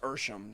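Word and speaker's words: Ehrsam: Fred Ersham. It is Ersham. I think the one spelled his name wrong the other day.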